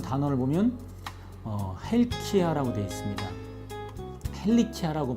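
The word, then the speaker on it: ἡλικία: 헬리키아라고 발음하는데요.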